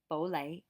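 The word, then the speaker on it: 普洱: welcome or parking shop poo air i guess is the way they pronounce it but in cantonese it is bole bole bole it's that mid-rising tone so bole is um puer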